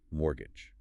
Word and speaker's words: mortgage: It is spelled m o r t g a g e, but it has a silent t. We pronounce it mortgage.